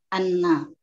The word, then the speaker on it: anna: Anna. Bagus. Jadi baca lengkapnya bagaimana? Anna. Nunnya panjang tidak? Tidak. Iya, jadi bacanya bagaimana? Anna.